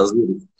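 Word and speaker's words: Azuriz: Futebol Clube Dogão e o azures é assim que se pronuncia o nome né Eh exato azures nós notamos que em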